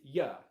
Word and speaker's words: you: So it's not oo, it is not you. The pronunciation is ya.